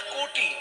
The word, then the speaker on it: কটি: কোমরকে ভালো ভাষায় বলে কোটি, তবে বানানটা কয়কার টয় হর্ষি নয়। কয়কার টয় হর্ষি কোটি মানে 100 লক্ষ, আর ক টয় হর্ষি কোটি মানে কোমর। আমরা তো বাঙালি, ক লিখলে ওকার উচ্চারণ করি, ওকার লিখলে ওকার উচ্চারণ করি।